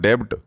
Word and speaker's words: debt: And B is silent in this word. This is not debt. This is debt.